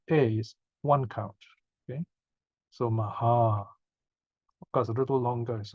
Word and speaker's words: Maha: the first a is one count okay so Maha because a little longer is all right hot